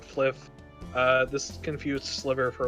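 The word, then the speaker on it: Flyff: for fun fly ff we pronounce it fliff uh this confused sliver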